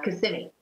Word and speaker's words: Kissimmee: Yeah, well, actually, I lived in Kissimmee.